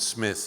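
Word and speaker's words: Psmith: and then Mike and Smith. His first fantastic character was Smith with a silent pee like uh Tomigan and pneumonia.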